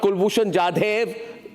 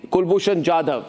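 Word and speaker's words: Kulbhushan Jadhav: Not Kulbushan Jade. Kulbushan Jadav.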